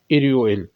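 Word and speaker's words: 일요일: यह इतवार का दिन है जिसे कहते हैं इरल लिखने में तोय इल यू इल है प्रोनाउंस होगा इर इल क्योंकि यह रियल जो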